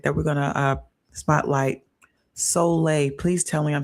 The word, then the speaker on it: Soleil: Soleil. Please tell me I'm saying it correctly. You did. You said it. You did. Soleil. Soleil.